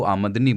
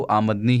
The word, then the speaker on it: आमदनी: बात बता डन की सरदार ने जब आमदनी शब्द को आमदनी बोला तब मुझे एहसास हुआ की मैं आज तक उसका गलत उच्चारण कर रहा था मैं उसे आम नहीं बोलना था सरदार के सही उच्चारण के बाद मेरा ध्यान गया की हां यह शब्द आमद से बना है तो आमदनी ही सही होगा मेरे मां में एक